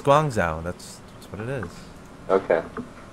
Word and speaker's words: Guangzhou: It's Guangzhou. That's what it is. Okay. Right, chat? Chat. Am I pronouncing it correctly?